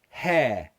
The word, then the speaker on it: hair: wider mouth here here hair hair what's the only change you can see it right it's still the same this here my jaw just drops that's the only difference hair hair but again